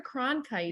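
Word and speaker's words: Cronkite: you can totally incorrectly Walter con I can't not saying it right my brain is really Walter KRON kite yes Walter KRON kite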